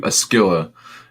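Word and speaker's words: Scylla: Athena, with a helmet with the Scythia, or however you say that. Let me see if I can find that. No, it's not mentioning it here, but I believe Askylla is how you say this goddess that's on the helmet of Athena.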